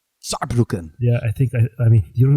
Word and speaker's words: Saarbrücken: I don't want to butcher the pronunciation, but it's Saarbrücken. Saarbrücken.